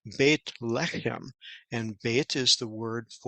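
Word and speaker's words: בית לחם: In fact, it's even the irony of it that they came from Bethlehem, and we see in Hebrew it's not pronounced Bethlehem, it's pronounced Beit Lechem, and Beit is the word for house, and Lechem is the word for bread.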